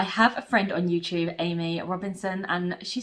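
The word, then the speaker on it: Aimee: two they're amy louise amy is spelt a-i-m-e-e and my mom is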